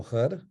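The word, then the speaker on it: ḥr: Like the word for face is actually emphatic H and R. So khar in Egyptological pronunciation. In Coptic, we say ho.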